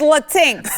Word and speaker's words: Latinx: like the la la they say it's latinx it's la tinx i like to say it like this it's latinx either way we hate it